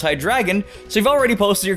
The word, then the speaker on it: Hydreigon: and its name is misleading because it's actually pronounced hi dragon so you've already posted your comments on me